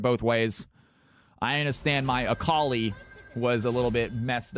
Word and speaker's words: Akali: Cal, how did you used to pronounce Akali? I'm curious. Alkali. Alkali was was my go-to.